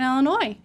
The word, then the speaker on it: Illinois: In Illinois, well, for one, it took me a long time not to say Illinois because I I was told that there is a silent s at the end of it.